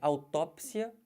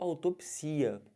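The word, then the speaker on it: autópsia: duplex ou duplex aqui ao tópsia ou autopsia Os dois estão corretos são tópsia ou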